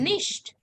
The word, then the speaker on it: nicht: Nicht. Nicht. Okay, it is pronounced as nicht.